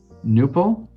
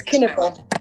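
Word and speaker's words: Knueppel: Is it pronounced Nuppel? K-N-U-E-P-P-E-L? Hi. Hi, good morning. Can you hear me? Yes, ma'am. Hi, it's Kinnickle. Kinnickle, thank you.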